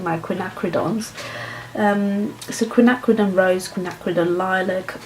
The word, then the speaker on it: quinacridone: watch the video but I realized I'm not pronouncing my quinacridone so quinacridone rose connect with a lilac or violet Rose